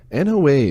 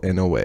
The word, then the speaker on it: Noa: To use this skill, you must first enable it on your Alexa device by saying, "Alexa, enable NOA." It's pronounced like the Noah from the Bible, You can then ask Noa to read the news by publisher, journalist, or category.